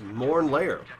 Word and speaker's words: Mornlair: It's pronounced Mornlair. Just like you said.